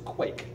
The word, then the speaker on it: quaich: This is a quaich. Mm-hmm. It's not spelled Q-U-A-K-E.